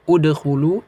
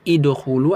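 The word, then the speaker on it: ادخلوا: Nah, jadi bacanya apa? Udkhulu, idkhulu atau adkhulu.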